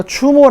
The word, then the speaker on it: 주몽: 다른 한자 를 보면 추모 대왕 이라고 해서 추모 라고도 발음 해요 그러면 주몽 이라고도 발음하고